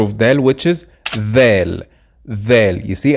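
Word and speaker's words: ذال: del which is vel vel you see i have to put my tongue out to pronounce it correct vel it is the same sound as in english when you say there or that same it's supposed to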